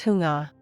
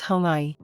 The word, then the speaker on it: Xuŋa: In the Hunnic language, it would have been pronounced as Xuŋa.